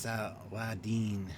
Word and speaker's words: Saladin: It's pronounced Saladin. Saladin. Well, Saladin is what I call it. Always have, always will. But Saladin.